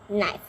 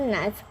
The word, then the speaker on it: knife: Be careful about this, but it's not cut knife. No, it's knife. Knife. The K is silent. Don't say the K. It's just knife. But we spell it with a K.